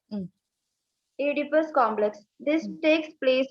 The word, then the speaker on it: Oedipus: O is silent there. Hmm. Oedipus complex.